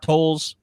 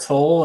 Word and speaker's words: Tolle: We're finishing up Eckhart Tolle's The Power of Now. How do you say his name? I've always said Eckhart Tolle, and then you told me it was Tolle, and then I'm like, Tolle, okay.